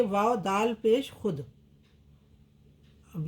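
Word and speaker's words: خود: इसे वाव के नीचे छोटी रेखा लगाकर व्यक्त किया जाता है, मतलब उच्चारण में नहीं आता। खे वाव शीन पेश खुश, खे वाव दाल पेश खुद।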